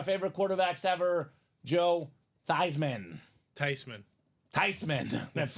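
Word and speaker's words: Theismann: quarterbacks in the 80s Joey T was uh thyman now years later they interviewed the gram and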